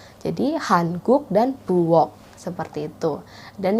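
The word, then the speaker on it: 한국: ada Korea Selatan Korea Selatan itu bahasa Koreanya Hankook Hankook jadi orang Korea Selatan itu bukan ucapin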